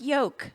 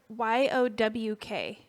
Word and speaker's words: yolk: The L is silent. It Okay. does sound like yolk. Uh-huh. It sounds like YOWK.